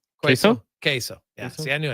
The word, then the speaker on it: queso: Just not very common in these parts, especially with the mild spicy quazo sauce. Is it pronounced quazo? Queso.